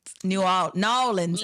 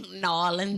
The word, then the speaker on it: New Orleans: New Orleans, actually. New Orleans. That's how they say it. New Orleans. It's not two words, it's one.